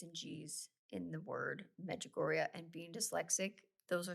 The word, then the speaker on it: Medjugorje: have something in common, and that is magoria. Why do I feel like I'm still saying that wrong? Am I saying it wrong? No, you got it.